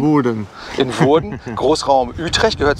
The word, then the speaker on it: Woerden: Und wir sind ja heute Morgen in Woerden, richtig Woerden, ausgesprochen? Woerden.